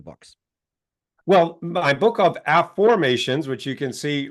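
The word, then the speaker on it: AFFormations: well my book of AFF formations which you can see right here is that's my book from Hay House it's called AFF formations not affirmations so an AFF formation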